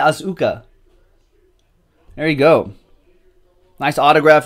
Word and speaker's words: Asuka: How do you pronounce the name? Asuka.